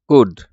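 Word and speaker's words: could: এর উচ্চারণ হয় না কুড কারণ এটা এল এর উচ্চারণ হয় না সুনামি কারণ এটা টি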